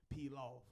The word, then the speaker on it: P.Laufe: So P.Laufe is actually, to me, it's an acronym. Whenever I tell folks that's my music name, of course, you know, they relate it back to the rice.